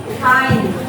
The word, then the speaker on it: kind: Yang tulisannya kin tapi bacanya apa? Apa? Apa? Kind.